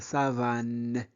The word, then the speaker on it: savane: La savane, c'est bon. On ne prononce pas e à la fin.